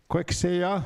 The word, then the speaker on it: Kaakewaaseya: Kaakewaaseya, that's how I pronounce it too, where justice integrating traditional ways to enhance services.